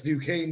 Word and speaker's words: Duquesne: Duquesne? Is it? Yeah, with like an SQ. Yeah, the S. Yeah, Duquesne. That's Duquesne University.